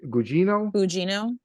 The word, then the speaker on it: Gugino: Gugino.